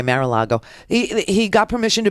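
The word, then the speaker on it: Mar-a-Lago: a helipad at marala I love to mispronounce it I do mararo okay maril Lago he he got permission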